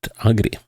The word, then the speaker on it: Ağrı: Uh that's supposedly how it's pronounced region. Although you could also call it Agri. So but I'll try to call it Ara. Um at least that's what the pronunciation guide I found tells me.